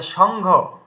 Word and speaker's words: সংঘ: আচ্ছা সংঘ, এই সংঘ, তো এখানে এই দেখুন উয়ার উচ্চারণ চলে এলো।